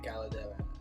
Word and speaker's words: Caldera: Yeah, Caldera.